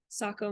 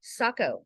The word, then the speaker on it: Saco: now you live in Saco Maine Saco I don't know how do you spell that s-a-c-o as well it's kind of like Waco Texas right yes so just